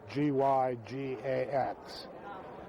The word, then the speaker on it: Gygax: ERNEST GARY GYGAX. Pronounced in Switzerland Gygax. Gygax. But we've Americanized it to Gygax. At least my branch of the family has.